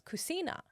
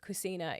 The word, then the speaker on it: cucina: And in Italian, the K sound is actually CH. But because cucina is spelt, or cucina is spelt like with one C, it becomes like a ch sound.